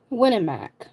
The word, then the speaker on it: Winnemac: Winnemac. And you spelled like win a Mac. Like you won a Big Mac, but you didn't.